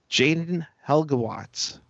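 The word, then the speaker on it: Jayden Halbgewachs: 3:27 to play to tie it up, and Jaden Helgewatz. Yes, we finally figured out how to pronounce his name.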